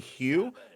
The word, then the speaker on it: Hugh: And actually, if you're pronouncing his name that way, which is actually the proper way to say his name, it's ABC Hugh. His name is Hugh.